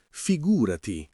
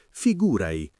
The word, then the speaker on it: figurati: Figurati si dice con l'accento sulla seconda sillaba, figurati. E nella parlata veloce spesso si sente figurai con la te che si assorbe un po', ma l'importante è mantenere quel senso di immediatezza.